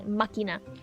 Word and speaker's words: Machina: I can never Machina. That's how it's pronounced. I can never pronounce it correctly. Makina.